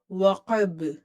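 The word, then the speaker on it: وقب: Idha, waqab, waqab, waqab. Ba is again qalqala letter.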